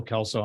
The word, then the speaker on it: Kelso: Maureen Nicholson okay I'm not sure about the pronunciation klco you're going to have to correct me there good morning my name is Kelso I'm from Emmett County